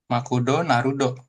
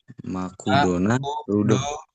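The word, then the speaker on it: マクドナルド: Makudo narudo makudo narudo narudo. Hai. Artinya belum tahu saya tuh McD McDonald oh McDonald Makudo Narudo McD McDonald Oke.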